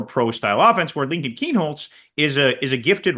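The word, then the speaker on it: Kienholz: Keen Holtz and uh it's a they you know Ryan Day's choice is going to involve a choice of styles.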